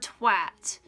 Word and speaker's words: twat: way it's pronounced, but it's pronounced with an O, like an O sound instead of an A sound, which I find fucking ridiculous.